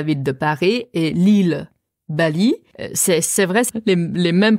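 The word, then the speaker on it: 巴厘: une question très importante comment on dit Bali en chinois c'est Bali aussi mais c'est un autre caractère c'est M c'est les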